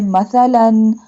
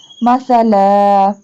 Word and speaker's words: مثلا: Here we stop and does not pronounce two fatha sign. Mean we does not say مثلا. We say مثلا.